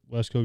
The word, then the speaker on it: Wisco: He talks about these Wesco guys and Wesco? How do you say that? Wisco. It's almost like Costco.